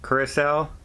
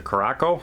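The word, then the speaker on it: Curaçao: aruba and bonaire and curacao so uh some people like to pronounce the karako but it's curacao is the proper name i'm told and uh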